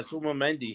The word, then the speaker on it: Zubamendi: I can't pronounce his name at all. Zubamendi. Yeah, Zubamendi.